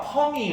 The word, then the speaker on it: 펌: 여러분 파마 해봤죠? 퍼머넌트 있다 이러더니 파마가 펌이 왜 파마냐면 일본 놈들이 발음을 그지같이 해가지고 파마 이러는 거예요.